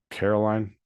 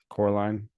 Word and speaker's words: Coraline: to Neil gaiman's uh Caroline Coraline Coraline that's how you say it Coraline not Caroline Coraline but um yeah I